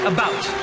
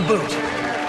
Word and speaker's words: about: French not American and I pronounce it about not a boot I can proudly soul